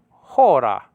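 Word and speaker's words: ὥρα: Hour spelled out hora. Hora, spelled out omega with the acute marker and the rough breathing. Ho.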